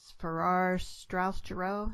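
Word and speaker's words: Farrar, Straus and Giroux: And, of course, you've been published by one of the largest publishers in the business, which is Farrar, Straus Giroux. Is that how it's pronounced?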